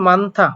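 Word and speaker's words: 많다: মানথা মানথা মানে বেশি এটার উচ্চারণ মানথা কেন বললাম আসলে মূলত হিউদ বাচ্চুমের পরে যদি দ্বিগুত আসে তাহলে দ্বিগুটা হয়ে যায় থিউত তাহলে দ্বিগু যদি থিউত হয়ে যায় তাহলে থ আকার থা মানথা যদি মান উচ্চারণ করেন তাও হবে কোন সমস্যা হবে না কারণ দ্বিগুত আকার আসলে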